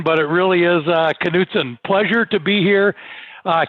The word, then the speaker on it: Knutsen: you know what usually people do get that pronunciation knutson everybody outside of the midwest pronounces it nothing but it really is uh knutson pleasure to be here uh keith uh thank